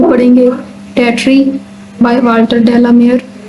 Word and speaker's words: Tartary: आज हम poem number 2 पढ़ेंगे, टैट्री बाय वाल्टर डेलामेयर। ये जो वर्ड है टैट्री, इसको तातारी भी बोलते हैं कुछ लोग, लेकिन जो सही प्रोनाउंसिएशन है वो है टैट्री।